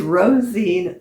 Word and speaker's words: Róisín: The um the author is and I do not know how to pronounce her name, but it's Róisín or Róiseán. Um O'Connor. No, O'Donnell. I'm sorry. It is Rosheen O'Donnell.